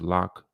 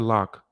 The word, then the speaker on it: Locke: young man's last name look like it's pronounced lock but my apologies if i'm not correct on that let's take a look